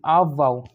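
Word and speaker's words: Aufbau: देखो पहले इसकी स्पेलिंग याद रखिए, AUF VAU आप वाव, ठीक है। तो आप वाव एक जर्मन वर्ड है जिसका अर्थ होता है रचना करना या निर्माण करना।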